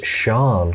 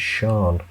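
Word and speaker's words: Sian: looking for pronunciation um oh pronounced sometimes sean hmm all right could be maybe i'm getting that wrong there maybe it's sean interesting clicking onto the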